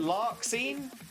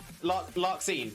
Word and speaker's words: Larxene: Am I pronouncing that correctly as well? Is it lark scene? Or is it Larzine?